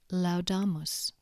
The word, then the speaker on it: laudamus: they're pronounced Al as in Faust for example laudamus consonants now C is pronounced as K in cat unless it's followed